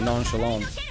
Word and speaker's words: nonchalant: Oh, my dad is nonchalant? Okay. Sorry, nonchalant is the way to pronounce it.